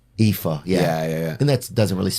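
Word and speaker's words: Aoife: you'll meet like somebody a oi f e eepa epha yeah and that's doesn't really NE we we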